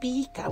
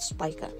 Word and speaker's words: Pika: I know in astrology terms, the pronunciation is like Spica, but for this character especially, her name pronunciation is Pika with double E, so not Spica.